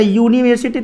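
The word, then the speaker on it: university: यूनिवर्सिटी का उच्चारण जब करते हैं तो यूनिवर्सिटी, तो यू आता है, यू, तब समझ गए यू क्या है? व्यंजन है कि स्वर है? व्यंजन है, तो ए लगाइए।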